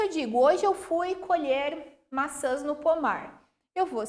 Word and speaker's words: colher: eles estão fazendo cormier notem que a minha pronúncia colher colher e como que eu vou